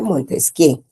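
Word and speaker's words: Montesquieu: Se escribe Montesqui, jóvenes, se pronuncia Montesqué.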